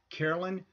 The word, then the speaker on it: Carolyn: And Carolyn is spelled C-A-R-O-L-Y-N, and her last name is spelled D-U-B-E.